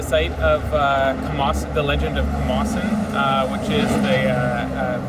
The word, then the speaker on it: Camossung: We're here at the site of the Legend of Camossung, which is the pronunciation of the word where the word Camosun comes from.